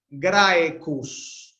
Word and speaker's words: Graecus: Graecus, Graecus. Grae es larga porque tiene un diptongo. Los diptongos son como vocales largas. Graecus. Graecus. Son las dos largas porque cus termina en consonante.